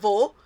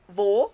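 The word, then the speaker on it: वह: By the way, we pronounce it wo, but we write vah for singular and ve for plural.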